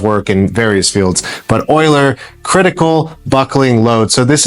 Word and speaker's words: Euler: calculates what's called the oiler critical buckling load. It has a weird name. Uh, oiler is spelled u e or sorry e u l e r critical buckling load.